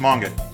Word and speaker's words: manga: Also, it's pronounced manga.